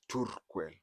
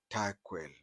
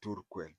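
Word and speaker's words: Turkwel: They pronounce it as Turquel, but you'll find we non-Turkanas call it Tarquel, but the pronunciation is Turquel.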